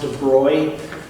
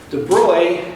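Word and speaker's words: de Broglie: class all right remember that's pronounced de broy de bruy uh the derivation is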